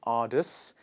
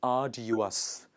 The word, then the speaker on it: arduous: we say this word it's not artists it is arduous it is ah do you us please repeat after me arduous next example is he